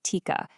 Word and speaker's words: TIQA: Well, Tika, and you pronounce that Tika, is basically a step-by-step process.